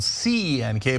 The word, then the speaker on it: Cenk: So my name is spelled C-E-N-K, but it's pronounced Cenk, and that's the original way you pronounce it in Turkish.